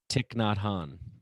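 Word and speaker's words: Thich Nhat Hanh: guy you mentioned i'm not sure how to pronounce his name say it one more time tick not han there you go uh who i've read and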